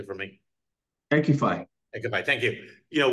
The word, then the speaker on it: EQIFI: EQIFI.